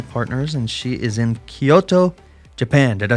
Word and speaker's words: Kyoto: right yes well yeah we say Kyoto Kyoto yeah is that better Kyoto you kind of have to have an accent right it's a little bit of an accent so uh how long